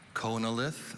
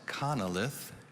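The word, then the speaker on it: chonolith: have all the information konalith also pronounced connilith is a noun this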